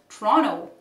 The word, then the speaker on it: Toronto: The second T in Toronto is not pronounced and it is called Toronto.